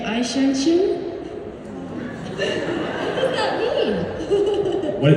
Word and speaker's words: Eichhörnchen: Aishinshin. How do you spell it? See, now I've asked her the real question. Eichhoermchen. Aishinshin.